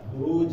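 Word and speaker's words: بروج: Kalau di akhir ayat buruj ya. Wassama'i dzatil buruj. Buruj ditempel, yaitu tanah lidah ya. Buruj. Jangan sampai ditambah hamzah.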